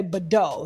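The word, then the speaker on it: Bidot: And so his fiance, Denise, I think her last name is Badeau, or it's spelled like bidet, but with an O, so I'm just going to say Badeau.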